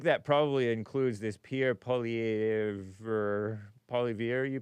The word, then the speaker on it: Poilievre: Poilievre. Poilievre. Okay, so the R is silent, I guess.